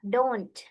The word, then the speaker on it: don't: And yang ini juga bunyi t-nya harus kedengaran di akhir. Don't. Don't you think?